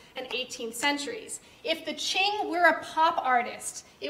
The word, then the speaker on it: Qing: that in a moment, called the Qing. That's how you pronounce that. Okay, Qing.